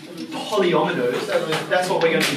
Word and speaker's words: polyomino: bit of a mouthful the way you pronounce it is polyometers that's what we're going